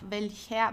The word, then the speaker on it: welcher: You see the R, but you don't pronounce it, because I hope you remember the pronunciation rules. Whenever you have a vowel and then comes an R, you pronounce the R like an A. So it actually would be like welcher with an A, welcher Tante schenkst du das Haus?